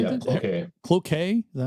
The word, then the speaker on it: Cloquet: Cloquet. Cloquet? Is that how you say that? Cloquet. Yeah, Cloquet. That's how you say it. It goes back to the French fur trading days.